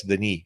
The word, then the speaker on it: Denis: It's one N, so it's pronounced, I guess, Denis, because it's a French last name.